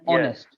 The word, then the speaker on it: honest: in chat R and honest yeah so in both of them you see the H is actually silent we don't say hover it's an hour hour and honest hours yeah exactly it's